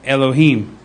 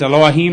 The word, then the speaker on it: Elohim: So pronunciation would be, it would be al, so it would be like Elohim or Elohim, either one. I tend to think it's Elohim, like, Eloah, but with the A in front of it,